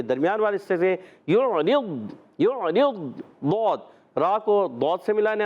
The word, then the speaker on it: ضاد: ہے, ضاد کو دال نہیں پڑھنا, ڈال نہیں پڑھنا, زواد نہیں پڑھنا, اور غاد غین بھی نہیں پڑھنا. غاد بھی غین بھی پڑھتے ہیں, تو یہ ساری چیزیں نہیں کرنی. آپ نے ضاد کے تلفظ صحیح ادا کرنا ہے.